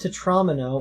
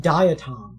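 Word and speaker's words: diatom: It's not pronounced to trauma. It's pronounced datom.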